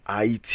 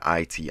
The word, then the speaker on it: Haiti: you know he's from IT you know better known as Haiti um in America in most places right we don't pronounce the H so it's I to us right a y I ti that's pretty much how